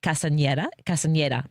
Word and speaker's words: Castañeda: Again, it's really been a pleasure to talk to Commissioner Lissette Castañeda.